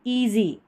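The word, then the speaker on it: easy: बीच में है और एस का उच्चारण ज हो रहा है।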